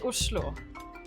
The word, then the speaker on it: Oslo: and ringgit listen no it's pronounced ushlo which someone disagrees with it is the